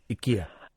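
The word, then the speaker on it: IKEA: but then it turns out that's how you pronounce it Ika that's how you pronounce it we yeah it's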